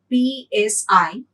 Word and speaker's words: psi: by a greek alphabet psi actually you write it as p s i p is silent here so we call it